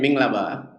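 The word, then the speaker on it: Mingalaba: Minglaba.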